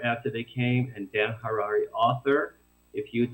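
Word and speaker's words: Harary: and my name is Dan Harari h-a-r-a-r-y rhymes with Ferrari uh Dan Harari author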